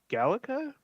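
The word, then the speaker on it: GALECA: uh also in 2021 he received I believe this is pronounced at gallica uh g-a-l-e-c-a it is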